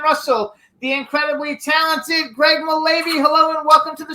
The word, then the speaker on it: Mullavey: Now we're going to bring out our next guest, who is Greg Mullavey, I think is how we pronounce it. Mullavey.